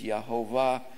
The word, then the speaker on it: Yehovah: I've come to believe it's Yehovah because many scribes and great teachers of the word say that four-letter word in there, yod hey vav hey, has three syllables, and so it's Yehovah.